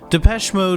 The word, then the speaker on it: Depeche Mode: of that name and we chopped off the accent and we just kept the pronunciation for those unaware of the band's history Depeche Mode was a group that